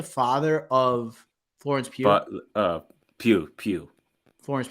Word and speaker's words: Pugh: but Pew. Florence Pugh.